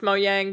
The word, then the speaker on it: Mojang: I believe it's pronounced Mojang, but I'm starting to say CD Projekt Red as well.